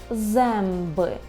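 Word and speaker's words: zęby: І подібно до «о» носового, так у нас було «а» з хвостиком, вимовляється як «м», якщо далі йде буква «б» або «п». Наприклад, «земби», «емби», так чуємо, «земби» – це зуби.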